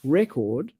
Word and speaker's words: record: But now you know when the stress is on the first syllable, that's a noun. And when you stress the second syllable, that's a verb. So record versus record.